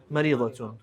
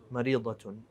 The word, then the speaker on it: مريضة: أنا مريضة. مريضة. And she'll probably stop and won't pronounce the ta and say أنا مريضة.